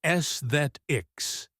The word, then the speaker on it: aesthetics: And aesthetics is aesthetics. It looks harder than it sounds.